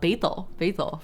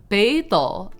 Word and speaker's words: Beidou: North Star, but Beidou, the words should have been pronounced Beidou, so it should have been like both third tone. But in Chinese, when you put two third tone words together, the tone shifts, so it becomes second tone and then third tone.